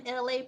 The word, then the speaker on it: Elay: Once again, I'm Elay, pronounced like LA, like the city.